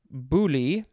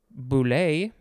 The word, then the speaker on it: boule: noun next we have buli boule both of those are good it is spelled b-o-u-l-e